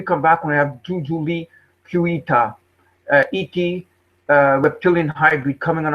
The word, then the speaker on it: Kuita: My name is Jujuolui Kuita, pronounced Jujuolui.